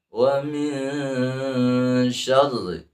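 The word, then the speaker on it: ومن شر: Wa min, nah sudah kena hidung, wa min, dan mendengung, wa min, baru lanjutkan wa min syarri, ya, syarri boleh syarri, ada sidah, ya, karena ra-nya di sana ada tasdid, tak kemasukan shin ke ra, ya, jangan wa min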